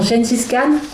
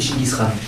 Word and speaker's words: Chinggis Khan: Il lui apprend aussi qu'il faut se méfier des Mongols, dont Gengis Khan. Là, j'ai délié. La prononciation mongole, c'est Chinggis Khan.